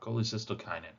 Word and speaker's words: cholecystokinin: when we look here collect cytosis oh all right mispronounce this one every time collect cola cole cystokinin wow cholecystokinin i really hate some of these